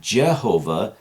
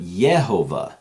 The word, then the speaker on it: Yehovah: even used, other than it was probably more like the letter I, if you could see it in the old writing, and it hints at and really makes it clear that the sound was not Jehovah, but Yehovah.